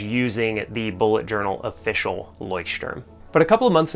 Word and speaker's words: Leuchtturm: really liked the leuchtturm now that i could pronounce it properly the leuchtturm at 1917 official bullet journal i like the